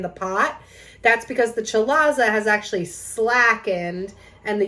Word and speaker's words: chalaza: the yolk is the chalaza spelled chalaze it's pronounced chalaza and this is a thick rope of albumin